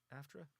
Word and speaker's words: AFTRA: That was the SAG-AFTRA strikes, yeah, AFTRA.